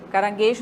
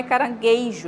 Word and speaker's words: caranguejo: Caranguejo, caranguejo não tem o I, tá? Não é caranguejo, é caranguejo.